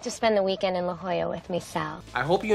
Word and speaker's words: La Jolla: not English remember and the last one La Jolla California also not English pretty cool huh how'd you like to spend again in La Jolla with myself I hope